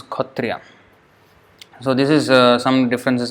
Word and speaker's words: Kshatriya: write as cut Riya the spelling is Kshatriya but the way they pronounce is code tria so this is some